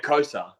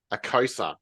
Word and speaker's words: Ekosa: guess before he start is it eosa or eosa how am I supposed to say this oh aosa aosa gotcha yeah that's how I usually say it likea so easy all